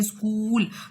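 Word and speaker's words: school: for example देखें स्कूल, तो स्कूल में एच साइलेंट है, डाउट में बी साइलेंट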